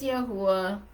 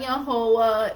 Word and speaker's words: Yahweh: If you're not uttering Yahweh's name upon your lips, and yes, brothers and sisters, it's Yahwh. It's not Yahovah, it's Yahwh.